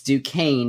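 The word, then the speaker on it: Duquesne: Duane by the way du quu s NE it's duaine is how you say that University's name I have learned recently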